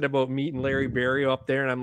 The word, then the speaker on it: Berrio: Well, my real last name is French, and it's pronounced Barriault. In English, it's pronounced Barriault. But there's too many people that pronounce the I-A-U-L-T at the end of it. So I get a lot of Barriault, Barriault. So it sounds, it's Berrio. So I'm thinking, how do I change it?